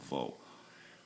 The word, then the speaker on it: wo: in German, and the letter W is pronounced, remember, as the letter V. Okay, so we have what, and that's was. Like, was ist das? What is that? Okay. Where is wo? V-O, wo.